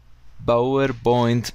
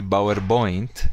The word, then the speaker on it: PowerPoint: one I finished my BB presentation pronunciation mistake here yes we don't say power point we say p p PowerPoint p I've finished my PowerPoint presentation very good watch for the P's and B's huh guys next one